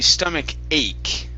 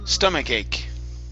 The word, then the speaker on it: stomach ache: very good now that's going to be stomach ache with the k sound stomach ache stomach ache okay yep